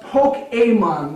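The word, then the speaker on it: Pokémon: But it's pronounced Pokemon with an accent on the E.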